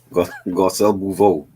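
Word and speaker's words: Garcelle Beauvais: I can never pronounce her last name. Gajiel Bohort something. You know who I'm talking about. Garcelle Bouveau.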